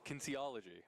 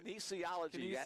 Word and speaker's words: kinesiology: game we talked about K kinology I'm still not sure I'm pronouncing that right Kinesiology one more syllable in there I learned what that